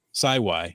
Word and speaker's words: Sawi: bias you actually pronounced sawi my Geo name correctly it rhymes with Wi-Fi and it comes from